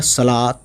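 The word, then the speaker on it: صلوٰۃ: लाम पे ज़बर आ गया खड़ा वाला, तो ये हो गया सलात, है ना। वाव साइलेंट हो गया इसमें, ये बड़ी बात है इसमें समझने वाली।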